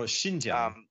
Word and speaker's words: Xinjiang: So you were talking about the Xinjiang, is that how you say it? The Xinjiang? Oh, Xinjiang.